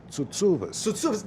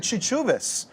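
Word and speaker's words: Tsoutsouvas: For some reason, we say Chuchubas, but the really Greek way would be Tsutsuvas.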